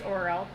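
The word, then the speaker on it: Auril: anything to you oriole a-u-r-i-l it's a weird percent or pronunciation it's oral oral i was going to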